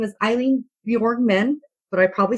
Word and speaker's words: Bjorkman: This is Eileen, and yes, my last name is pronounced Bjorkman. So it's Bjorkman.